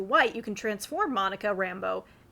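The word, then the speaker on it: Rambeau: As we move on to Monica Rambo, not pronounced Rambo, but Rambo. It's French. It's or or like Cinjun. It's not like the um the wilderness man from Vietnam.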